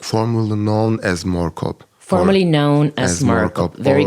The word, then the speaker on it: Moorkop: speak about the project that you did around Moorkop. And maybe I'm mispronouncing it. So if you could perhaps tell me, how is it pronounced? Moorkop.